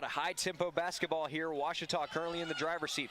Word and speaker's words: Ouachita: sports digital network back in texas everybody pronounces it wichita but really it's ouachita washington washington how would you pronounce it it's washita baptist university get it